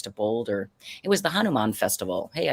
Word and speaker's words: Hanuman: It was the Hanuman Festival.